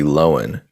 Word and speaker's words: Lohan: news uh lindsay lohan her name has been mispronounced this entire time it's actually lowen that's my time that's